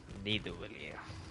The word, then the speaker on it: Nidavellir: Nidavellir. And Svartalfheim. I'm really good at like Norse pronunciations apparently. Like it's not You hear Thor, that? it's Thor. And it's Nidavellir.